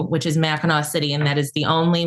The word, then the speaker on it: Mackinac: So it looks like Mac, but it's all pronounced Meno.